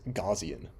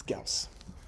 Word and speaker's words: Gaussian: Um but they all pronounce this wrong. Uh they call this gauian. Um it's Gaus.